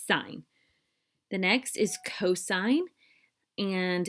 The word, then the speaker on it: sine: you can use sohcahtoa with right triangles okay sine is pronounced sine not sin even though when we abbreviate it it looks like sin you don't want to say sin because then it sounds silly it's sign the next is cosine and it is previous